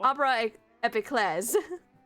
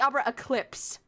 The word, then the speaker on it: Opera Epiclese: says Oh, I something have been like pronouncing it wrong this whole fucking time. It is French, It's so. Opera Epiclese. You've been saying it wrong this whole I've been time? calling it the Opera Eclipse this whole time.